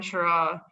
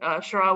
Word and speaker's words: Charraw: So when he heard the name Charraw, he decided to spell it with a CH rather than an S, which I think he intended to sound like CH in chef.